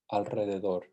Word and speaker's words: alrededor: Some things to keep in mind that sometimes when we spell it as a single R, it's actually pronounced as the trill R. That is true always at the beginning of a word. Ricardo, Costa Rica. It's also after the letter N, Enrique, and after the letter L, alrededor.